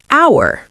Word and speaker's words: hour: Even though the word begins with the letter H, the H is silent and we pronounce it hour.